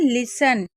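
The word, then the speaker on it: listen: ही लिसन इसको हमेशा लिसन पढ़ते हैं क्योंकि टी साइलेंट रहता है।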